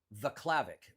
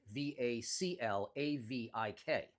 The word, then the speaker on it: Vaclavik: So, it's two n's, two l's, Vaclavik, v a c l a v i k. Vaclavik. I I I I butchered your name originally though.